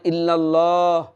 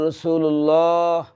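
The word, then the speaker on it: الله: থাকলে লামে আল্লাহ পর হয় মোটা হয় আকার উচ্চারণ হয় না যেমন ইল্লাল্লাহ মুহাম্মাদুর রাসুলুল্লাহ শব্দটাছিল ইল্লাল্লাহ রাসুলুল্লাহ পড়তে হবে কি ইল্লাল্লাহ রাসূুল্লাহ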